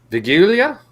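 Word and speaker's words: Wigilia: the celebration was yesterday we called vigilia I assume you spilled it's pronounced the wsv you know polish uh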